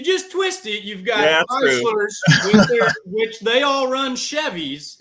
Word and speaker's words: Chrysler: Who are Chrysler. Yeah. Okay. Yes, it's kind of like a Z in there. But if you just twist it, you've got Chryslers, which they all run Chevys.